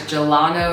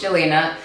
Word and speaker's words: Jelena: my name is Jelena a lot of people can tend to say a mispronounce my name as gelato or jahalo whatever but my name is Jelena and I'm from Lawton